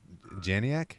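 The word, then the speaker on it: Janiak: it used to be I'm probably pronouncing these names wrong it used to be Alex ropos and now it's going to be Steve uh janc I think is how you how you pronounce it it's j a n i a k um but this is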